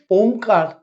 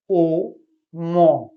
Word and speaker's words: ওম: ওমকার উচ্চারণ যদি সঠিক হয় শরীরে কি করে, এখানে ৩টে শব্দ আছে, অ ও ম।